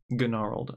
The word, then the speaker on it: Gnarled: All right, Gnarled Sage, or should I say Gnarled? Yes, that's the correct pronunciation, Gnarled.